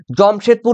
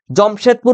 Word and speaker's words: জামশেদপুর: পারবে কিন্তু তোমরা রয়েছে জমশেদপুর রয়েছে মানে জমশেদপুর বা জামশেদপুর কেউ কিন্তু উচ্চারণে কিছু বলবে না জমসেতু জমশেদপুরও বলতে পারবে জামশেদপুরও বলতে পারবে ঠিক